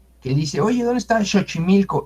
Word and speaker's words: Xochimilco: El sonido X es el sonido sh, shashishusho. Entonces, pues no hay que usar la X porque no es una incógnita, es SH. Por ejemplo, ese se pronuncia en shola, en palabra en inglés short. ¿Qué otras palabras tenemos como sonido sh? Xochimilco. No decimos Xochimilco, ¿verdad?